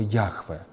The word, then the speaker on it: Яхве: правило подразумеваю священный тетраграмматон в западных изданиях иногда подчеркивается что подразумевается слово яхве так произносят согласно этого данного слова вот современные исследователи в революционных текстах употреблялось слова иегова благочестиво евреи это слово